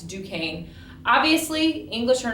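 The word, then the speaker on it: Duquesne: named it Fort Duan um that's how you pronounce that it's Duane obviously English are not very happy that the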